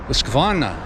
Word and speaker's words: Husqvarna: now for some reason english speaking people want to make that h hard and you want to put an i in there okay well first of